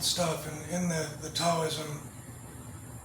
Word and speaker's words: Taoism: and in the the Taoism I pronounce it with a T because they spell it with a T. If they spell it with a D, I say Daoism.